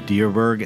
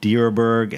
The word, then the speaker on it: Dierberg: Tyler Thomas is the wine maker at deerberg and starlane Vineyards in the Central Coast of California near Santa Barbara is deerberg the right way to pronounce it you're correct you got it this